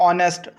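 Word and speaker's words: honest: अगर हम बात करें जैसे कि ऑनेस्ट यहां पे जो एच है वो हमारे पास साइलेंट होता है तो हम यहां पे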